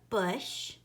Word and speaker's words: bush: In the word bush, it is spelled U. And then sh. And I know sh is a digraph because it's 2 letters put together to make one sound. S-H. Bush.